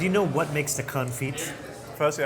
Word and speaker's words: confit: Now, do you know what makes the confit? Firstly, I know you don't pronounce the T. It's duck confit.